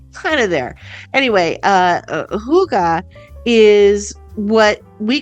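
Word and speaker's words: hygge: bring to your attention first of all the Huga I don't know if I'm saying that right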